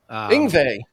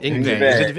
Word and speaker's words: Yngwie: Yngwie. Yep. Yngwie. Is it Yngwie? Yeah. I'm sorry. I just butchered that.